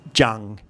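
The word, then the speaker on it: จัง: the first syllable searching see it uses the the je initial consonant and then it's got a Mahanagar which is like an English you and the ng final consonant now as far as I'm concerned I Jung but with the official transliteration system it writes it like this Chang Chang what now let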